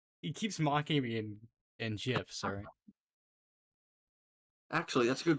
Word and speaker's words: GIF: Nobody he keeps mocking me in GIFs, alright? Actually, that's a good question. Mara, how do you pronounce it?